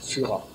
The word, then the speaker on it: Fura: Ici, on le prononce Fura.